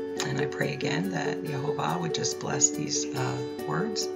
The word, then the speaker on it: Yehovah: And the proper way is Yehovah, Yehovah.